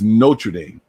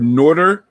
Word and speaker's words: Notre Dame: it all right no tread damn but it's notre dame not northriding and people from new jersey say i've heard norder n-o-r-d-e-r see how this person here says i